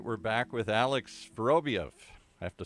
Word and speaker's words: Vorobieff: Just like it sounds. Vorobieff.